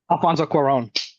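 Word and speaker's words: Alfonso Cuarón: name for me how do you say it Alfonso Quon Quon Quon yeah I only know that because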